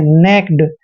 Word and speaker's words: naked: देखिए एन का उच्चारण न करेंगे, ए को हम ए की मात्रा पढ़ते हैं, और KE का उच्चारण कै करते हैं, और डी को डे पढ़ते हैं। नेक्ड।